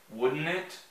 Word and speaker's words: wouldn't it: Para pronunciar bem, mas falando rapidamente assim, it would change the world, wouldn't it? Wouldn't it? Os caras não falam T, velho, eu não sei porque, eles não gostam de T, preconceito com T.